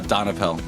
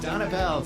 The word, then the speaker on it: Donapel: Uh Donapel. Donapel.